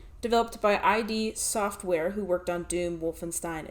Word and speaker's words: id Software: Next, we have one of the most important games of its era, and it's pronounced id Software, believe it or not.